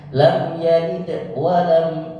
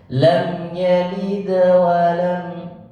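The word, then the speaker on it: لَمْ يَلِدْ وَلَمْ: Nah, kalau dia berharap, kalau dia berada di tengah kalimat, bacanya lam yalid wa lam, tidak lam yalid wa lam yulad. Hati-hati, jangan sampai disamakan. Lam yalid wa lam, salah. Lam yalid wa lam. Jadi sedikit saja, secara lembut.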